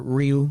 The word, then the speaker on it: Ryu: It means dragon for a lot of people that don't know, or Ryu. That's how they say it in Japanese.